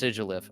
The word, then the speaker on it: Sigilyph: I know it's pronounced Sigilyph.